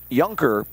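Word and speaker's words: Junker: The courtesy runner is Merrick Yunker. So we'll get Yunker's name in the book. Starts with a J, but pronounced with a Y. Merrick Yunker.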